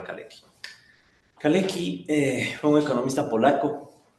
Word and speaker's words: Kalecki: En Polonia aparecía Kalecki, Michał Kalecki, o Kaleski, depende cómo hablan. Si ustedes salen a algún lado, a veces le pronuncian Kaleski, ¿no? Kaleski, Kalecki, ya. Yo voy a llamarle Kalecki.